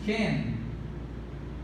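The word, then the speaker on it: כֵּן: Aqui nós pronunciamos Ken. Ken ou Ken, com K ou com M, perdão, com C ou com K, de modo que a pronúncia é Ken, não Sen, é Ken ou Ken,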